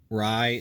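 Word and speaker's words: Rai: away here um next rye number zero is it rye or ray i've heard it pronounced both ways but anyway first blood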